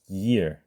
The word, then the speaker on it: year: 해를 의미하는 ear부터 발음을 하면 year, year 이런 식으로 발음하겠죠.